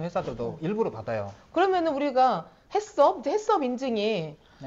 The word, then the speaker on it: HACCP: 대한민국에 그니까 유통되는 아니 h ccp 발음으로 섭은 아닌 거 같은데 왜 일까 왜냐면 이거를 두 개의 단어가 붙어 있어요 그래서를 해로 하고 ccp 서로 읽는 거죠 아 그니까 hcp 섭이